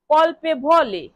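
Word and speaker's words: colpevole: দোষ করেছে দোষী দোষী এর ইতালিয়ান অর্থ হবে কল্পে ভলে কল্পে ভলে কল্পে ভলে কল্পে ভলে অর্থ দোষী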